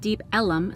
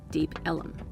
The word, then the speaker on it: Deep Ellum: Because a lot of the establishments are on Elm Street, it was originally called Deep Elm, but the residents pronounced it Deep Ellum, so eventually they changed it to Deep Ellum.